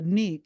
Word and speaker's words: Neek: Neek, his name is eventually revealed to me, Neek, NYC, pronounced phonetically.